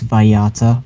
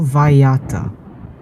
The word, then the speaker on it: Vallarta: It's Vallarta. Double L pronounces as a Y.